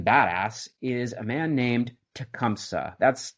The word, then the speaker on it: Tecumseh: Properly pronounced, to the best of my knowledge, in the indigenous language of Shawnee, it's Tecumseh. Hopefully I did that okay. I'll probably revert back to my whatever Anglo pronunciation, since it's just more comfortable coming off of my tongue.